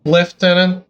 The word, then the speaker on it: lieutenant: Colonel I love that some English speaking countries pronounced Lieutenant like left tenant but still write it like Lieutenant uh I don't understand